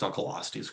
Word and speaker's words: Dunkleosteus: Um, Russell, by the way, it makes me so happy that you pronounced Dunalostius correctly.